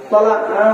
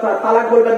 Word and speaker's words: তলাক: মোবাইলে এত তলাকের তালাক মানে শব্দটা কিন্তু তলাক হ্যাঁ খবরদার তালাক বলবেন না তালাক শব্দ আলাদা তলাক শব্দ আলাদা আমি